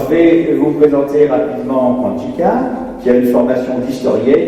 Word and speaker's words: Pantxica: Alors je dirais maintenant Panchika, tout simplement. Alors ça ne s'écrit pas du tout comme ça se prononce.